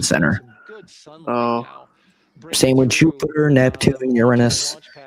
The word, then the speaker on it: Uranus: Same with Jupiter, Neptune, Uranus. I think it's pronounced Uranus. No, it's Uranus. It's based off the Greek god. Um, the Greek and Roman god Uranus.